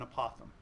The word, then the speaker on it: apothem: couple of radii and an apothem or a Pithom either either one is an acceptable pronunciation and I'm going to